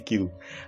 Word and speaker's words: queue: Queue. Bacanya Q. Oke, QW. Queue.